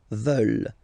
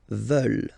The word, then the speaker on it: veulent: And the last one, here, EU, and then ENT, classic ending, but then you don't pronounce it, so you get veulent, veulent.